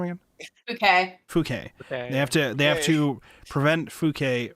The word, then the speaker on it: Fouquet: How do you pronounce her name again? Fouquet.